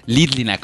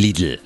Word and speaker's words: Lidl: Én jó vidékiként a Lidl trendre Lidlinek mondom, ez csak akkor ciki, ha olyanoknak mondom, aki rendesen ejti, hogy Lidl.